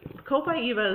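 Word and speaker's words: Copaiba: get these out of here so my gosh co-pi eva is next um and cool by eva is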